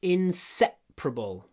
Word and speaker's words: inseparable: They are inseparable. И здесь вы слышите уже произношение меняется.